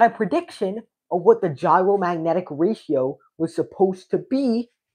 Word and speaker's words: gyromagnetic: Eventually what we were getting was the gyromagnetic ratio or the gyromagnetic ratio. It's not pronounced like the food Gyromagnetic ratio is well